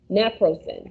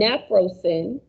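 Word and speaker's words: Naprosyn: drug is actually uh napro sin which it sounds just the same but the ending is spelled differently uh when nsaids are taken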